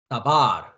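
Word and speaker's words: דבר: 말씀입니다 말씀 말씀 어 대부분의 히브리 단어는 마지막 음절의 액센트 강세가 있습니다 그러니까 예를 들자면 이것을 발음할 때 앞에 부분에 액센트를 주지 않고 두 번째 음절인 어 발에다가 강세를 줘야 된다는 얘기죠 그러니까 다바르 다바르 이렇게 이제 발음합니다 그러나 모든 것이 그런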